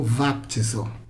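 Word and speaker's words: βαπτίζω: Que é o grego vaptizo. Pronuncia com som de V mesmo, tá bom? Vaptizo.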